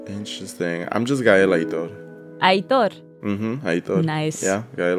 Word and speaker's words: Aitor: Wait, so now I'm curious, what's everyone's full name pronunciation in Spanish? Mine is Elainy Mata. Interesting. I'm just Gael Aitor. Aitor.